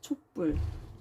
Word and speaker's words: 촛불: 촛불. 오, 모음이니까 울림소리고 비읍이니까 안 울림소리죠. 이럴 때는 된 소리로 발음이 됩니다.